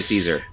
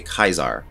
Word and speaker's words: Caesar: So normal people just say Caesar. The Legion, try to say it the original like Latin way and say Kaisar.